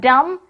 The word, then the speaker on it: dumb: What is the spelling of dumb? D-U-M-B. But letter B is silent here.